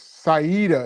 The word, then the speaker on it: Saida: Saida is how you pronounce it. It's an Arabic name.